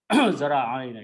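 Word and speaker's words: ذراعين: Okay, so when we combine these two, they will be pronounced as zira'ain. Zara'ain actually. Zara'ain.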